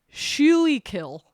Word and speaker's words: Schuylkill: thing, and it's spelled Schuylkill. So it looks like Schuylkill, Yeah. but people of Philadelphia call it Schuylkill.